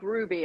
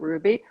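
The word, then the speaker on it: Rouxbe: desserts course for them and i i think ruby and that's spelled r-o-u-x-b-e if there's anyone who doesn't know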